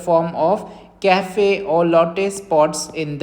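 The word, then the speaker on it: café au lait: इन the form of कैफे और लट pots in the skin okay कैफे और लेट इट is written like this कैफे और लेट बट इसको pronounce करते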